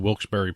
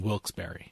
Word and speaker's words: Wilkes-Barre: casino resort up in Wilkes-Barre, Pennsylvania. By the way, in case you ever see it in print, Barry is spelled B-A-R-R-E. And there's a hyphen between Wilkes-Barre.